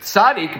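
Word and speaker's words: צדי: the word was I thought the letter was sadik." No, it's actually Sadi. But the fact that that there is an actual like makus, right, that there's a disagreement shows there's something unique about the letter because sadik means righteous, right?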